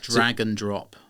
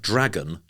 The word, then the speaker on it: dragNdrop: know how it sounds drag and drop so does that sound like dragon as in the animal drop you can see what's